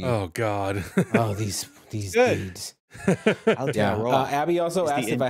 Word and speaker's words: Aotearoa: Aotearoa. Yeah. There you go. Aotearoa. Roa. Yeah. Aotearoa. Aotearoa. Aotearoa. Taylor's watching going, EOP. Oh, God. Oh, these dudes. Aotearoa.